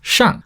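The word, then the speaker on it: 下: looks like this pronounced shan the character for it down looks like this pronounced sha type three compound ideograms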